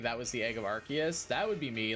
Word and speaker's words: Arceus: Kai, how do you say Arceus? Like that. I pronounce the C as a K.